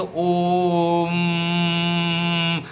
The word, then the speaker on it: ओम: जा रहा हूं कि जब ओम का उच्चारण किया जाता है तो ओ जो है उसका जो शॉर्ट पीरियड के लिए ओम का ओ का उच्चारण होना चाहिए म का उच्चारण लोंगर पीरियड के लिए होना चाहिए जब ओम बोलेंगे जैसे ओम जो म बोलेंगे हम लंबे पीरियड के लिए बोलेंगे वो जो बोलेंगे वो शॉर्ट पीरियड छोटे समय के लिए बोलेंगे मो बोलने